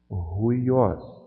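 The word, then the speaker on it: υἱός: Então, essa aspiração áspera aqui, eu vou pronunciar como um H aqui na frente da palavra. Então, eu vou ler essa palavra aqui, ruiós.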